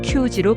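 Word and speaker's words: 九時: 9시 역시 쿠지 또는 큐지로 발음될 수 있습니다.뿐만 뿐만 아니라 계수를 셀 때,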